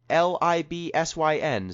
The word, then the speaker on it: Libsyn: Yeah, it's sin like synergy or something, or syndicated, not like sinful.